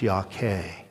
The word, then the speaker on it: Yahweh: It's pronounced Yahweh in Hebrew, but it is the most holy name that God, the Jews won't even use it, even to this day.